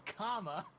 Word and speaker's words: Kame: Hi, I'm Kame. Kame. You know, it is comma, but okay.